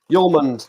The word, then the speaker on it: Hjulmand: Hjulmand, that's how you say it. Kasper Hjulmand.